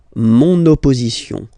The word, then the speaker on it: mon opposition: feminine, but then it starts with the O. Mon opposition, you make this link, huh? Mon opposition.